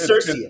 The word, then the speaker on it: CIRCIA: Is it Circia? Have we spoken? I think it's Circia. I think we're going to go on record as Circia. We got to go Circia.